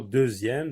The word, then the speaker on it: deuxième: Dixième, comme dans le mot deuxième, donc il se prononce z.